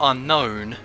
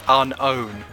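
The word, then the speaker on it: Unown: a good point that it's not unknown it's unknown it's not it's unnown there's no K which is he's completely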